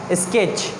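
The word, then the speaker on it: sketch: Then स्केच, टी का sound pronounce नहीं होगा यहाँ पे।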